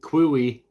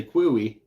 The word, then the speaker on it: quay: Q yeah I know quy is another one if you'd only ever read that and you don't know that it's pronounced Q you would say quoy with the first time you said it out loud and people would be